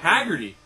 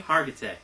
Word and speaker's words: Hargitay: The chick Hargitay? She just had a That's kid. That's not the way you pronounce it. Want to try that again, buddy? Hargitay. There you go.